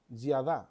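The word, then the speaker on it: ידע: conocimiento o para conocer es la palabra yad yada así se pronuncia o así se por lo menos así se escribe si uno lo quiere transliterar y a d a yada Y esa palabra se traduce como conocer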